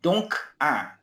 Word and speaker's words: donc: Alors que le donc d o n c le c se prononce toujours. Donc OK. D'accord. D'accord. OK. Euh du coup c'est don 1 et donc 1.